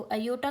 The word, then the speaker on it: iota: अब देखो अयोटा को आप जो है डिनोट करते हैं आई से, और अयोटा को स्पेल करते हैं IOTA। ये बस आपको प्रोनाउंस कैसे करना है वो बता रही हूँ।